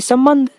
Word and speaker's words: संबंध: और जब हम प्रोनाउंस करते हैं तो ये क्लियर हमें समझ में आ रहा है कि संबंध, स म ब न ध, संबंध, ये क्लियर प्रोनाउंसिएशन हो रहा है कि यहाँ पहले बिंदु का मतलब म है और दूसरे बिंदु का मतलब न है, ठीक है।